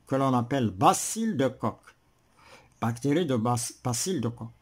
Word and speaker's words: Koch: Bacille de Koch, CH, ça se prononce Koch.